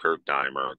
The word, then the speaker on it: Kurt Diemer: Yeah, it's Kurt, K-U-R-T, and it's Diemer, D-E-I-M as in Mary, E-R, pronounced Kurt Diemer.